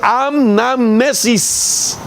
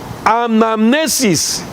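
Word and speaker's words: ἀνάμνησις: más, sino que es una palabra del griego que se pronuncia anamnesis. Oiga esto, anamnesis.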